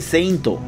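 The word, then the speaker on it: セイント: Allí dice Seinto, que es como los japoneses pronuncian la palabra inglesa Saint, seguido por Seiya, o sea, Saint Seiya.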